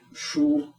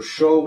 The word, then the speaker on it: shu: This one is actually a shu or sho, depending on who's pronouncing it.